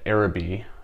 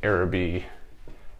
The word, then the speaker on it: Aerobie: / inventor that made the era be I guess is how they say it error be frisbee popular toy in the